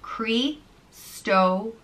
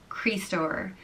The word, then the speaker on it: Críostóir: The next name is Críostóir, and it means Christ bearer, and it's pronounced Críostóir, Críostóir.